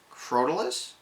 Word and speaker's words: Crotalus: It is Crotalus.